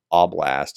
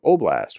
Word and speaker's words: oblast: old habits die hard it's like ablast as opposed to oblast which is the correct pronunciation Iran has transferred more